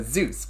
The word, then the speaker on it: Zeus: All right, so Zeus. What I know about Zeus. I know lightning. That's mostly it. Lightning... father god of all the gods, I think. Name rhymes with juice.